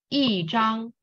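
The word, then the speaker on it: 一张: Normally you say, oh, E is first tone, so I'm gonna say it like 一张。一张。对, but it's not, yeah, but it's not really accurate though. You need to say it like 一张。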